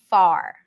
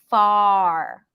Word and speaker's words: far: different section to it r as in Far r r r we have the Oz and father there and then you lift the tongue up for the R so the focus is on the ah and only at the end ninety percent vowel ten percent or far that's it far it's so far now here's why the